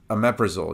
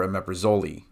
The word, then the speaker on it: omeprazole: start from the ending another drug that's often mispronounced is Omeprazole you'll hear a meprazole right and so it ends up with being when you do the back building it's Zol presso meprazole omeprazole right and so doing that